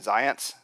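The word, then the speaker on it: Zajonc: researchers in this area was a man named Zions z-a-j-o-n-c it's not doesn't look like it's spelled right but science as in science but anyway so you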